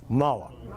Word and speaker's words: Mueller: have to the the his name is spelled Mueller I think they pronounces it mala the e I think is silent in any event yes